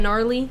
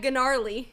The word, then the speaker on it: gnarly: somewhere in there Wow you pronounced it wrong that's good gnarly gnarly hashtag ganar ly that's like G - gnarly yeah okay number five